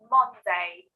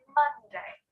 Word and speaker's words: Monday: So I know it's an O in the first syllable, but we don't say Monday, but it's Monday.